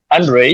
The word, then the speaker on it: Andrei: Is it Andre or How would you pronounce it? Andre, it's good.